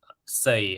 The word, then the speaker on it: Sei: say so it's pronounced say uh like you can think of the English word s-a-y like he is saying something um so you can